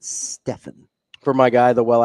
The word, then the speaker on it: Stephen: in a nice keti the literally the reason I call say it Stephen is because it probably is literally the only person I've ever seen in my life who pronounces it Stefan is Steph Curry the only person yeah